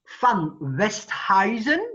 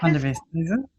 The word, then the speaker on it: Van de Westhuizen: Walter Boyd, astrologer, van WESTHUIZEN. Do you say it like this? Van de WESTHUIZEN. Van de WESTHUIZEN. Van de WESTHUIZEN. That's right.